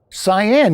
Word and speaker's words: Cyan: Cyan? Cyan, yes, Yeah.